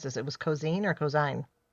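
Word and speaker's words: Ko'Zeine: It was cozine or cosine. Coine. Coine. Right. Because we were talking before. Yes. Which I mispronounced at the end of last week's episode. But it is cozine.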